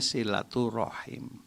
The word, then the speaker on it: silaturahim: Jadi yang sering kita pakai silaturahim, tulisannya silaturahim, dibacanya silaturahim.